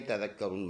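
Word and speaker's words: تذكرون: तज़क्करून नून ज़बर न, तज़क्करून वक़फ़ करेंगे, नून का ज़बर साइलेंट करेंगे, तज़क्करून बन जाएगा।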